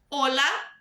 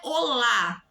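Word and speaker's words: hola: buenas Então vou repetir olá olá presta atenção na pronúncia não é Olá é olá olá OK é a segunda sílaba a penúltima sílaba se você preferir pensar assim que é a tônica Olá não olá queai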